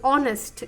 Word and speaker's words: honest: Honest is an example where it starts. The word starts with the letter H, but the phonics or the pronunciation starts from O.